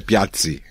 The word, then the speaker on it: Piazzi: E Piazzi também é com 2 Zs e tem exatamente a mesma pronúncia de pizza, né? Piazzi.